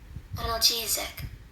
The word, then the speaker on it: analgesic: It is spelled ANALGESIC. Okay, let's see the definition and the pronunciation. Are you ready? Here we go. Analgesic.